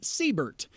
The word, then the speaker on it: Seibert: exactly the same way I do s-e-i-b-e-r-t except he pronounces his name Siebert and uh most people